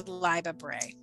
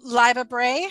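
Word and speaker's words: Libba Bray: have to say right now it would be live a bray um who would that person live a bray her name is spelled l-i-b-b-a okay first name uh last name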